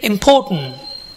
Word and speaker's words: important: So when I say important, the syllable po is stressed.